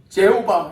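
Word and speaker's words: Jehovah: 그래서 영어권에 있는 사람들은 하나님을 뭐라고 부르냐면 제호바 이렇게 부릅니다. 제호바. 우리는 하나님을 여호와 이렇게 발음하잖아요. 그런데 영어권에 있는 사람들은 제호바 이렇게 발음을 해요.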